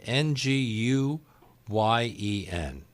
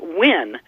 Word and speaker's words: Nguyen: ng u y en that one fascinates because it's so counterintuitive to our spelling and pronunciation it's pronounced when but I think most people when they first see that word if they're not you know knowing the the Vietnamese say Nguyen or knew Glen you know there's it's